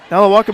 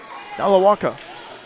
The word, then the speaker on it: Nalewajka: Nalawaka, by the way, spelled Nalewajka. Nalawaka.